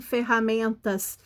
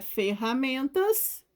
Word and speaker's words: ferramentas: no meio da palavra porque quem ferramentas é o som do r é forte porque ele está duplicado no meio da palavra entre duas vogais então repetindo como é